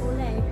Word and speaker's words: Olay: Ulay or how you pronounce that? Olay. Yes.